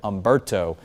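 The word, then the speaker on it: Humberto: And then eventually we'll get into the second column of names which is going to start with Ombberto. The h is silent on that name.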